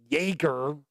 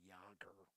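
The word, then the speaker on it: Jaeger: jagger or as a said in pacific rim jager it's actually yogurt if you're actually using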